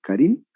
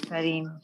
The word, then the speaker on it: Karim: ¿Karin? Sí, señor, Karim. ¿Cómo Benzema? No. Karim Benzema, Karim, no, es Karim.